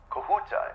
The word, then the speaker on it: Kahuta: Kahuta, is that the correct pronunciation?